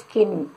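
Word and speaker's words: skin: ஸ்கின்னுனா தொலி சம்டான்னு சொல்லுவாங்க, சின்னு சொல்லக்கூடாது. சின்னுனா பாவம் பார்க்கறது. This is ஸ்கின் நாட் சின்.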